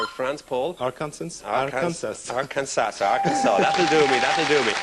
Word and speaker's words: Arkansas: France Paul our consensus Arkansas Arkansas do we do be your right while you're in the next round I shall not mind if you pronounce the odd final s I do it myself